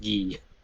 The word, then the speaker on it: Gui: I'm pretty sure GUI as a name is supposed to be pronounced Gee.